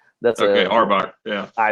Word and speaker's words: Auerbach: Yeah, Auerbach. That's okay. Auerbach.